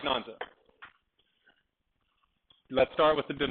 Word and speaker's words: Nanzi: Or Nanzi? How do you say her name? Nanzi. Not Nanzi. Nanzi. See, I hate the A-N final, because I never know if it's on or am.